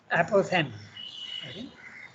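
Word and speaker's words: apophthegm: how do you pronounce that themes ah okay okay that's interesting ph is not pronounced and the g is also not pronounced okay and that's english for you even the most illogical language aposen only the ph is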